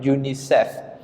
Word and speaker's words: UNICEF: We pronounce it Unicef.